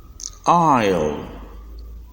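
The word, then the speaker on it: isle: the second word is pronounced I'll where the S is silent with this we shall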